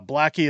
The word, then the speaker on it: Blaikie: Winnipeg seat has been left vacant since the NDP's Daniele Blaikie or Blackie as I pronounce it, resigned from federal politics in March.